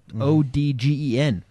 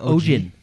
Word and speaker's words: Ogden: And anyway, we have a city in our state called Ogden. Odgen. Google pronounces it Isn't it Ogden. Yeah, because it's Ogden.